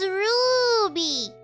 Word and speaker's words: Ruby: You never say hi, but you never say my name right. It's Ruby. You gotta say with the Roo.